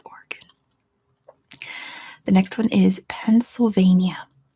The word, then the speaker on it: Oregon: Yeah, I know some people say Oregon. I have no idea where that comes from. It's Oregon.